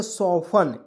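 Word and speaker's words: soften: लोग क्या पढ़ेंगे दोस्तों तो इसे पढ़ेंगे सफन क्या पढ़ेंगे दोस्तों ए से होता है स ओ है तो उसको चर औ के रूप में और देखिए टी ई एन क्या पढ़ेंगे सन तो क्या पढ़ेंगे दोस्तों सफन इसको फन एफ से होता है फ और एन से होता है न इसमें टी टी ई को इसमें साइलेंट करेंगे ठीक है तो एस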